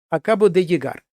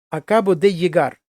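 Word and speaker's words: acabo de llegar: Акабоде єгар. Зверніть увагу, як я вимовляю. Акабоде єгар. Оце от подвійне л, як є наше єр або йод.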